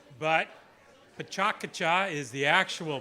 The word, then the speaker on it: PechaKucha: here so as we like to call it pachucha but pachaka is the actual pronunciation but it's our it's our night so